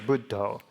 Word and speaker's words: Buddho: So whenever you have a double consonant like 2 Ds, that actually turns the first syllable into a long one. So that's the reason why bud is a long syllable. The reason why do is a long syllable is because of the O, which is always long.